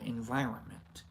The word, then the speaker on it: environment: minds and the material environment environment do you see do you pronounce the N the second nend there's three ends did you know there's three ends in environment saana is often misquoted